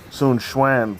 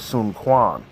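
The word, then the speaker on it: Sun Quan: the some of the names are pronounced like soon Schwan for ex for an example cuz if you look at his name you look like it's a it look like it looks like it says Sun Kuan so you know but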